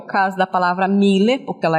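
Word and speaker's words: Müller: E a pronúncia dessa palavra é Miller, tá?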